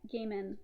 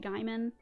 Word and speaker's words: Gaiman: i know that neil gaiman um growing up i always pronounced it gaiman but i think it's pronounced gaiman so you might hear